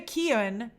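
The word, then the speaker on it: Keoghan: now hey jacob hey daven mika says barry keown uh keown that's how you pronounce his name is joker do you think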